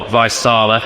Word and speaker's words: Vaisala: them know uh so Visa or visala as it's usually pronounced uh in the UK uh were founded back